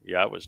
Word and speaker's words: Yahweh: And it's, not difficult to know how to pronounce Yahweh's name. It's the Yah and the Ah are from the verb haya, and the O sound comes from Torah.